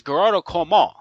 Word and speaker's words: Gearóid Ó Colmáin: My guest tonight is Gearóid Ó Colmáin, right? Gearóid Ó Colmáin, right? Gearóid, is that how you pronounce it? That's it. Yeah. Okay, that's the Gaelic name.